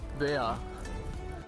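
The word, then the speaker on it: Bär: E questo perché la parola Berlino deriva dalla parola tedesca che sta per orso, che si dovrebbe pronunciare circa tipo Bea.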